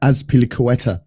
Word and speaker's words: Azpilicueta: how to pronounce this fella's name is pronounced um azpilicueta that's how it's pronounced oh no we've all